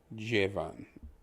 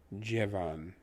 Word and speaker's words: llevan: The LL is pronounced as a J or as a J. So where you see the LLE, it's technically pronounced like JE, J. Like Jennifer, J. Van, V-A-N, is much, pretend the A is actually an O in English. It would be Von, such as the typical name Von Smith, etc. So Jevan.